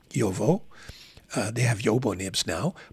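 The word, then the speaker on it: Jowo: changed they're now with Joel or yovo as I've been reminded to pronounce yovo they have Yobo nibs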